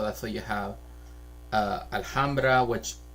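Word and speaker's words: Alhambra: So that's why you have uh Alhamra which in LA you do pronounce the H.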